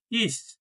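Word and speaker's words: ich: সময় সি এইচ এসে থাকলে ছ এর মত উচ্চারণ হবে যেমন ইস ইস মানে আমি আমাদের প্রথম শব্দ কি ইস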